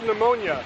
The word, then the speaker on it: pneumonia: I call this pneumonia. The P is also silent.